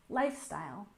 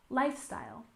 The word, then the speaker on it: lifestyle: and finally we have lifestyle with stretch on the first syllable lifestyle lifestyle for example his lifestyle